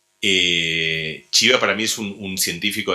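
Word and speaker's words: Csibra: húngaro que se llama chiva se escribe csivra chiva para mí es un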